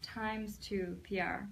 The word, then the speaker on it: X2PR: It's actually, I'm sorry, its name is pronounced Times2PR, but it's spelled X2PR, because she's promising twice the talent, strategy, and results.